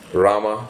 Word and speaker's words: Ram: So, in order to find out what Rama thought of him, now I may pronounce it as Rama or Ram sometimes, so please apologies for this variation.